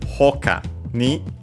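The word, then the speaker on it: ほかに: By the way, hoka was unaccented, yes, and so hokani should be also unaccented.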